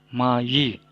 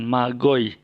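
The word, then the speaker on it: μάγοι: apa bagaimana cara membacanya Hai mahji mayi orang-orang majus kita baca di magis pesawat dua mayi bukan magoy ya oke lanjut yang berikut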